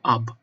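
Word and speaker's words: 鴨: You shut your lips like you are going to pronounce B, but you don't, which is fascinating.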